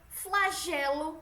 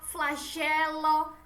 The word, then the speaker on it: flagelo: que provocam dúvida É ué aberto de é como se fosse acentuado benesse Pedro retro flagelo servo Sérgio benesse petrocenter o flagelo serval certo e o é fechado